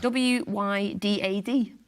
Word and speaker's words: Wydad: 18th of June, when we'll face Moroccan side Wydad. Does that sound right? Wydad? AC? Well, I can't see it. Yeah, how do you spell it? Yeah. W-Y-D-A-D.